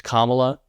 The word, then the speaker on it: Kamala: they said it right it's Kamala like mamala and it's funny because